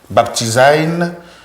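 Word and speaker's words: βαπτίζειν: Baptizein, pour le prononcer comme il faut, ça signifie plonger, immerger, déposer dans l'eau.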